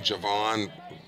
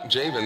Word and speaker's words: Jayven: here at Greene County who have pronounced Jayven's name correctly every time. And poor Jayven, a lot of ballparks they'll call him Javon or other derivations, but they got it right. Jayven, there's a strike, 0-2